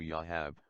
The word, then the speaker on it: Joab: King David's nephew Joab, pronounced in Hebrew Yahab, means Yah is the Father.